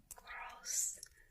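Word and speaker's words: groß: The first one is gross, gross, meaning big. This is a sharp S.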